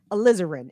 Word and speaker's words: Alizarin: I got Alizarin is how you say it.